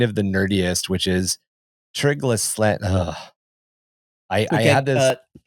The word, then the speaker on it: Trigedasleng: and possibly kind of the nerdiest, which is Trigedasleng. I I had this Trigedasleng? Trigedasleng? I said the Yes, Trigedasleng.